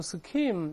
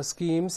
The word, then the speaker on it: scheme: 我们再读一下 scheme，注意浊化，不要读 scheme。再来一遍，scheme，scheme，经常两个词连用，叫 schemes and intrigues，就是